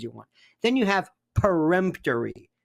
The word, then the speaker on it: peremptory: Then you have peremptory challenges, oftentimes mispronounced as preemptory.